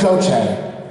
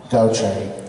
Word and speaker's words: Gauthier: It's Gauthier. So you would say, it's kind of like G-O-C-H-A-Y, Gauthier.